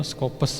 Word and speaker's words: Scopus: Ini sama, ini bacanya yang betul Scopus sebetulnya ternyata gitu ya.